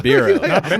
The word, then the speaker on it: BERO: BERO. What's the pronunciation? Not BERO. BERO. BERO. Yeah.